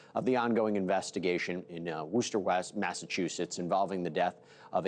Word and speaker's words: Worcester: It is Worcester, right? Did I pronounce it? It's Worcester, but close enough.